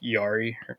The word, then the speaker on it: Yairi: I think it's technically Yairi, but it's Yari because I'm a dumb Alabamian.